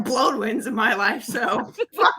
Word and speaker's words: Blodwyn: Bloodwin. What? I'm going to need you to spell that, please. BLODWYN, like as in a Scottish Bloodwin.